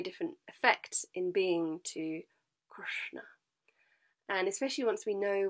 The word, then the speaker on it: Kṛṣṇa: it much softer resonance the n is also pronounced with the n with the tongue pointed towards the roof of the mouth and then we mustn't